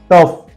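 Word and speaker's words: tough: फ पढ़ना है let's see some example लाफ टफ कफ एंड रफ चारों स्पेलिंग देखिए लाफ टफ कफ रफ ये सा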